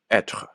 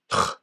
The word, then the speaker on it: être: The word to be, we're taught, is être. But the way she pronounces it, in hiatus, that is, vowel following a vowel, remember, is just tr. Instead of du être, it was dutre.